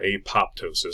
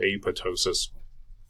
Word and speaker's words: apoptosis: a bow ptosis or apoptosis some people go ahead and pronounce that P I prefer to leave it silent so Ava ptosis program cell death that's